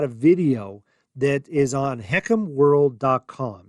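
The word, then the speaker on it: HECM: the what it means HCM we pronounce it as heckum in the industry but that's the fha's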